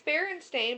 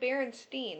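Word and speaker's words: Berenstain: This is legitimately It's not I just see it's Baron Stain, but I I said Baronstein.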